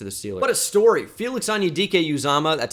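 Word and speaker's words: Felix Anudike-Uzomah: Broderick Jones to the ceiling what a story Felix anyudike uzama that's how you pronounce it by the way I heard a number of different pronunciations last night that upset me but Felix onidike uzama is how you say it and he is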